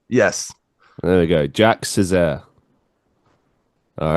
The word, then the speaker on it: Sezer: Yeah, my last name is pronounced Sezer.